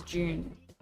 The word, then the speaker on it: Dune: How do you say June? Dune? Dune? Australian pronunciation is June. Like the month.